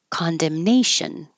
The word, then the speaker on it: condemnation: Condemnation. Another shun. The syllable before is stressed.